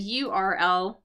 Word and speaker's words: URL: Uh, and notice too, I said URL like we say the letters.